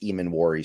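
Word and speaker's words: Emmanwori: And with Emanwari coming back this week, and somebody in the chat told me that it's pronounced Emanwari.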